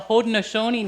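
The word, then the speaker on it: Haudenosaunee: there's six nations and they're the haudenosoni nation that's how you say it in their language which is the sixth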